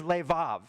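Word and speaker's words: לֵבָב: In this verse is leav. There's an extra vet in the word.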